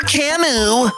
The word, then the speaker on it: Camus: Yes, Kimu with an S at the end. Please don't ask me why they spell it like this. It's not a typo. Just pretend like the S is not there.